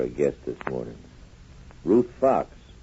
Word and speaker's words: Faux: Ruth Fox. She pronounces it Fox, but she spells it Faux.